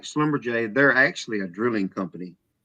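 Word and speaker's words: Schlumberger: It's Slumberjay.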